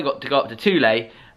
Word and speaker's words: Thule: Yesterday, I got to go up to Thule. They said Thule, I'm sure. I asked the guy.